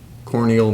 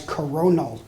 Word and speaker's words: coronal: deferred to isaiah uh corneal mass ejection we have a mispronunciation judges no the answer i needed was coronal mass ejection your next toss-up is